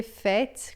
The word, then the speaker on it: fait: Par le fait Aqui a gente vai dizer fait com esse t assim, porque em francês a gente tem il fait, por exemplo, que é o verbo fazer, a gente não diz o t final.